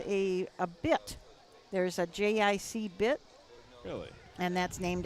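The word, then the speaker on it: Jay-Eye-See: from the early 1900s maybe even 1800s named j-i-c which is spelled j-a-y-e-y-e-s-e-e um but he was a very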